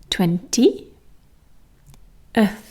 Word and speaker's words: twentieth: It really is just the number 20, and then we add a schwa sound, and then go straight into the TH sound. 20, th, 20th, 20th, 21st, 22nd,